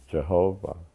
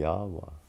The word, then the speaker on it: Yahweh: 2 Hebrew characters, and it's what is mispronounced as Jehovah. But my brother said we don't know how they pronounce it, but it would probably be Yahweh.